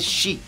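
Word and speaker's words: 四: E a resposta é que a pronúncia do número quatro em japonês é chi, que é mesma da palavra morte.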